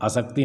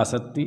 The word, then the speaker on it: असत्ति: ' असत्ती', हाँ, 'क' का उच्चारण न करें। यह 'असक्ति' नहीं है। यहां दो 't' हैं , एक दोहरा 't', 'asatti'।